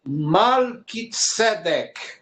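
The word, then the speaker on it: מלכי־צדק: Então, a pronúncia correta é Malki, ou Malki, Malkitzedek.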